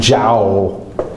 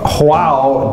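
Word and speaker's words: João: figure out with her, how do you say that? J-O. She thought it was like Joao. Could you imagine naming your son Joao? I mean, say J, Spanish say. So she actually said Jao.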